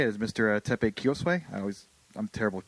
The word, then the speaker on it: Kiyosue: Teppei Kiyosue. I'm terrible with pronunciations. No. Is that good? Yeah. Good, It's Kiyosue?